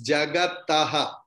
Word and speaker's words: जगतः: It's not Jagatah or Jagatah. It's Jagatah. Ta is full. In Sanskrit, in Hindi, wherever you see any word like karam, you say karam. But in Sanskrit, it is karma. Ma is full.